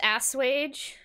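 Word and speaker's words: assuage: a wonderful night um it literally is ass wage is it really good cool ass wage i'm going to see that word and again and not remember that that's how it's pronounced because that's just too ridiculous great newton's indict indict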